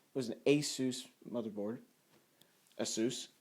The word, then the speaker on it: Asus: was an asus motherboard asus asus asus however you pronounce it i'm gonna call it asus because that's how their phone number pronounces it i actually called their